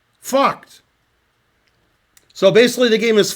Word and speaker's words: Vogt: And if I pronounce the last guy's name correctly, it's Lothar Vogt. Vogt.